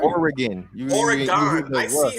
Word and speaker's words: Oregon: say wrong how you say it m fantastic Oregon how y say Oregon y like that too